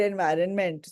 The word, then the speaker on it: environment: you read the word environment sonalika not only you many other people also they they don't pronounce the N word which is there inside okay see environment n